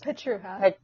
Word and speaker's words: Pietrucha: Pietrucha. Oh God. The C is silent.